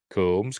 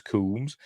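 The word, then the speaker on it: Combs: mad scientist Herbert West Jeffrey coms kums I've always pronounced it kums and I've met him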